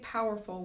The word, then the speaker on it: powerful: You could say powerful with 3 syllables. You could. Because there are 3 vowel sounds, ow, ol, right?